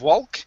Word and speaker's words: walk: is boardwalk now on the l in walk the l is silence so instead of walk it's a walk okay boardwalk bar work